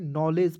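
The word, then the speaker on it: knowledge: जैसे के एन ओ डब्ल्यू डी जी ई तो क्या पढ़ते हैं, नॉलेज पढ़ते हैं, ठीक है, तो उसमें डी को साइलेंट रखते हैं, ठीक है।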